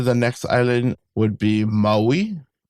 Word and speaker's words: Maui: Wowi. So, kind of more biting down on the on the vowels. Maui.